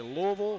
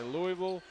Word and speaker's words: Louisville: Some people say Louisville, some people say Louisville, some people say Louisville.